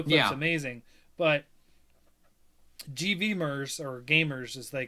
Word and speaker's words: GVMERS: It's Gamers, and it's spelled with a V instead of an A. GVMERS.